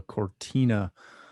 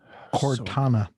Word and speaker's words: Cortana: There goes my dreams of a Cortina T-stat again. Cortana. Cortana. See, can't even pronounce it right.